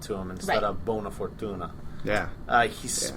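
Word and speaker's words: buona fortuna: makes the truce with jip and he says bone fortunate to him instead of bona fortuna yeah uh he pronounces it incorrectly being that of all things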